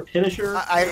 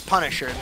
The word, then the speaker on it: Punisher: Is it Punisher or Pinisher? It's Punisher.